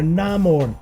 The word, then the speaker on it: Namor: You can feel the presence of this man, this Namor, or Namor as they pronounced it in the film.